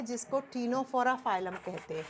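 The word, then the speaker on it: Ctenophora: निकला हुआ है जिसको टीनो फोरा फाइलम कहते हैं तीन नंबर पर आता है स्टूडेंट टीनो फोरा लिखा जाएगा सी से प्रोनाउंस किया जाता है टी से टीनो फोरा सेम नाम हिंदी में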